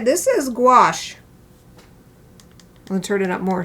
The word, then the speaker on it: gouache: All right, this is gouache.